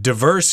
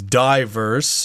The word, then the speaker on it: diverse: very interesting features here let's first talk about the word diverse here you could also pronounce that as diverse diverse diverse I say diverse myself I think people in